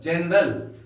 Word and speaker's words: General: अब हम लोग हैं दूसरा उदाहरण जनरल। यहां पर ई है, GENERAL, GE है, जी के बाद ई है, इसलिए जी का उच्चारण जौ के समान हुआ है। इसको पढ़ेंगे जनरल।